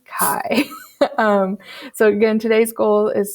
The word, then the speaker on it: chi: it as chi so it's not chi it's not chai it is kai so again today's goal